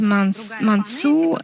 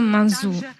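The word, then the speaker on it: Manzù: Bon, Russe se prononce Mansu et les Italiens le prononcent ce nom Manzou.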